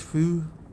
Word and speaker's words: Hu: Hu is pronounced fu.